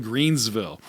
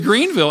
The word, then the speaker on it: Greenville: into town was always called called Greensville they would always mispronounce it you notice that too and that was Greenville and then when I